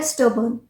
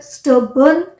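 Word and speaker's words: stubborn: is very स्टब पर स्टन है spelling ध्यान से रीड कीजिएगा स्ट बोन नहीं होता है काफी बार है ना इसके प्रोनंसिएशन में हम मिस्टेक करते हैं दिस इ स्टन अब मेरे जो पड़ोस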